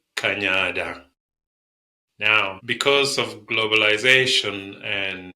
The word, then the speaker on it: Kanyada: are in the city we tend to ask people to pronounce it as Canada and we we say